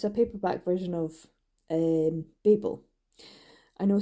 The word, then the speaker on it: Babel: It's a paperback version of Babel. I know some people say Babel, but in the UK, Babel. Because like Cain and Abel, Babel. If it was Babel, it would be 2 B's.